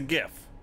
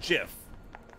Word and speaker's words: GIF: supply trader is mad mercer small recoveries you pronounce the animated digital image as gif yeah it's a gif right okay but i don't know so what what was the peanut butter thing then i choose jiff hashtag fo4 uh i say i say gif